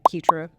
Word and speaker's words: Keitra: You pronounce the name Keitra. I is silent, of course.